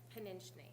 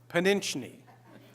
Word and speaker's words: Pszeniczny: It's Pszeniczny, Pszeniczny. like pinch your knee. Like pinch your knee. That's what I tell the second graders.